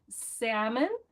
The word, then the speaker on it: salmon: The W's are hard, and it took me years to be able to say February and salmon because those silent letters make no sense to Spanish speakers.